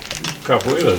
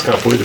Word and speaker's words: capoeira: it's Portuguese, so you roll the R's, so it's capoeira.